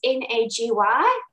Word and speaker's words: Nagy: So the last part of his surname is N-A-G-Y, so Nagy, but it's pronounced Nagy.